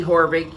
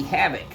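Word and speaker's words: Haavik: then quarterback does it it's not spelled the way it sounds it's spelled h a a v i k which a lot of people including myself initially called her havoc but she's anything but having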